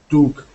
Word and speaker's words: took: So I know that that looks like that ooh sound because it's two O's. But for many of those double O sound, it's actually uh like took, book, look. closer to O.